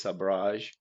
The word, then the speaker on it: sabrage: They're both accepted, but if you want to use the correct version, it is sabrage, which Sabrage. comes from French, sabre, which is, saber.